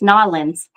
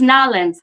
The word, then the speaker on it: New Orleans: Now, coming um the end of July into August, I will be in New Orleans and or as someone told me, it's Nollins. It's Nalins. I'm saying it wrong.